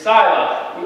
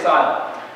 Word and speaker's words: Scylla: And on one side is Scylla, or Scylla, in different pronunciations. I'm going to say Scylla.